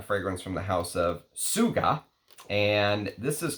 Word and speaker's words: TSVGA: And this is from the house of TSVGA, which apparently it's supposed to be pronounced Suga, which, whatever.